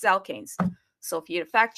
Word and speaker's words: Alkanes: I mean, I've been pronouncing this thing as alkenus and it's alkanes. Okay, it's alkanes.